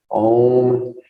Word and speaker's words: om: has one slowly verbalizing the seed syllable om pronounced with a o vowel sound open-mindedness is also very